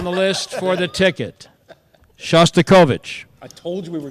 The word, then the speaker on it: Shostakovich: Shostikovic. That's incorrect. Oh, man. Although I wish there was an E for effort. The correct pronunciation of Shostakovich is Shostakovich.